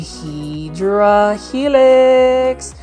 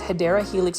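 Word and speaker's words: Hedera helix: over here we have a hedra helix or the correct way to say it is hyera helix or English ivy this is for $3.98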